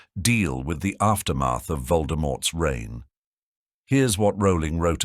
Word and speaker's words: Voldemort: years we've been pronouncing Voldemort's name wrong in the original it should be said as Voldemort without the T sound at the end JK Rowling was inspired